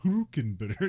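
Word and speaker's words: Hülkenberg: hulkenberg so okay although when you hear him say his name it's like Nico who can better kid of course it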